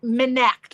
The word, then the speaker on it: Minect: It's like Minect, like connect, but Minect.